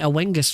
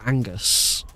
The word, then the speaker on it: Oengus: Angus not oener I I've been calling it aengus for ages but I checked it out and it's it's pronounced Angus if you still have